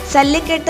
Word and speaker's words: സല്ലിക്കെട്ട്: വിജയിയായി അല്ലെങ്കിൽ വീരനായി കണക്കാക്കുന്നു സല്ലിക്കെട്ട് എന്നാണ് ശരിയായ ഉച്ചാരണം അതായത് സല്ലി എന്നാൽ നാണയങ്ങൾ